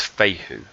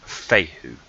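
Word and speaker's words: Fehu: room to consider is fate who so that's how you pronounce that rule fate whoo okay Faye who essentially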